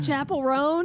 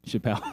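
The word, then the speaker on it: Chappell Roan: who's that I don't know I was like Chapel rone he was like okay is that how you say it Chapel R yeah oh what have you been saying Chappelle not Chappelle your couch thank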